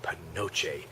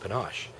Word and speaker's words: panache: and I said, I really like that word, panoche. And she goes, panoche? It's pronounced panache. And I'm kind of, well, I'm pretty sure it's panoche, because that's the way I was taught it since 8th grade.